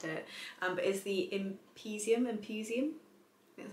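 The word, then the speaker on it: Empusium: heard anything about it um but is theum imposium that's how you say it a health resort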